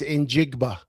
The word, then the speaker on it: Njigba: Sheldon, it's Njigba. Njigba.